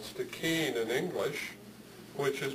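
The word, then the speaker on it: Stikine: Gitksan homeland, are called Stikeen in English, which is pretty close to what they're called in Somalia, except that it has a hard K, Stikeen.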